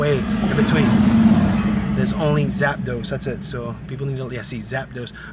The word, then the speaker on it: Zapdos: Now remember, guys, the pronunciation is Zapdos.